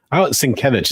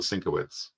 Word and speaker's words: Sienkiewicz: Sienkiewicz is what I've always understood it to be, but when I was a kid, we always called him Bill Sienkiewicz.